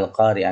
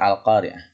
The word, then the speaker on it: Al-Qari'ah: Maaf anak sekalian, di atas itu hurufnya A ya. Yang benar Qaf, karena bacanya Al-Qari'ah nih. Harusnya Al-Qari'ah.